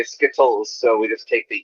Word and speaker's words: Skittles: exactly yourself yeah no no america no american pronounces the tease as teas it's not schizos it's skittles with a d because americans are lazy just